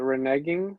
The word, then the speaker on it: reneging: You know, I never actually learned how to pronounce that word. Is it reneging?